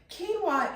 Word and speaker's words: quinoa: Quinoa is a wonderful replacement for oatmeal.